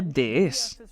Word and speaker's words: DS: En francés se pronuncia de es, que suena exactamente igual que la palabra francesa para diosa.